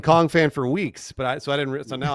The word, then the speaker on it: Kongphan: I will say Anthony's name is pronounced Kongphan, right?